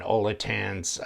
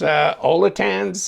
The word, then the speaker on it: Olitans: Olitans, that's the way I pronounce it at least.